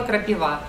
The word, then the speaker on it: крапива: вещи авель или крапива крапива в эти слова растут деревья ель и его когда пишем на доске слова предлагаем учащимся найти дерево слове и на это дерево падает ударение поэтому серег поэтому крапива